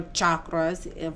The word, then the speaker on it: chakras: into alignment with her chakras uh as or chakras for the correct pronunciation is asking her to